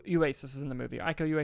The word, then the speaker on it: Iko Uwais: Iko Uwais is how you pronounce his name.